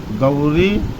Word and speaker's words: गौरी: यहाँ गौरी नहीं बोलेंगे। यहाँ संस्कृत में औ के उच्चारण को औ बोलते हैं और ऐ के उच्चारण को ऐ बोलते हैं।